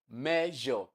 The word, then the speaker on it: measure: Measure. So the s there is underlined. That word is written as s but it is pronounced as like you have in pleasure. So it is measure and this is the